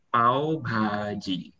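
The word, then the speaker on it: पाव भाजी: Jadi dibacanya pav bhaji.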